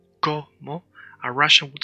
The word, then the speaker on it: como: when speaking Spanish, that when we have a word like como that has two O, the O that does not have the accent, in Russian they pronounce it as a. In Spanish, you cannot make that mistake.